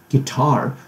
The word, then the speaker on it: guitar: 这些发音 ,guitar, 重音在第二个音节 ,guitar 的地方 ,guitar, 吉他。